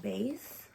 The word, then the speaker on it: BEIS: I got this probably in 2020, I want to say, and the brand is called Base. I believe that's how you say it.